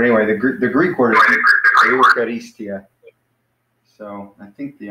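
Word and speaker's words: εὐχαριστία: So you can pronounce it like eu, like a, or I'm sorry, starting to use Greek letters, like a, eu, or you could just pronounce it like you, eu, or you, whichever one. I don't really care either one.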